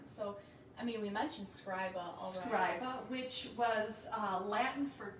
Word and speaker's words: scriba: roman government so scriba i kept saying schreiber right and then it was just like when i looked up the name it was like okay scribe right it's pronounced scriba again right like how'd